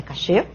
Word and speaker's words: cache: Ainda na classificação de memória interna, eu tenho a memória cache, cuja forma correta de falar, embora eu tenha falado cache, é memória cachê, mas é força do hábito, né? A pronúncia correta é cachê.